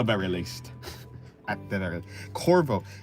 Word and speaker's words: Corvo: Oh yeah, it's Corvo, not Corvvis, but similar. Similar. It reminded me of that game at the very least at the very Corvo.